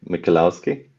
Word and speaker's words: Michalowski: try to uh um I suppose in English you can say mikolowski okay thank you very